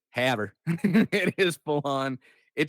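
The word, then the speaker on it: Havre: harv what is it it is like literally the most american pronunciation it's it's not it's not hov or anything it's haver it is full on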